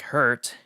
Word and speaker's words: Herth: Passing through the city of Herth, pronounced without the second H, like hurt.